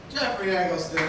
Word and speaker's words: Jeffrey Eggleston: Guys, Jeffrey Eggleston. Oh my goodness. Am I saying it right? Yeah, you're actually nailing it, dude.